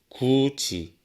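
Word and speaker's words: 굳이: 있습니다 다음은 구개음화 있니다 화면에 보이는 굿이 갓이는 어떻게 발음을 하면 될까요 바로 구지 가치로 발음을 할 수가 있습니다 앞 음절의 종성에 위치한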